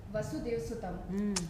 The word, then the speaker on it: Vasudheva Sutham: वसुदेव सुतम।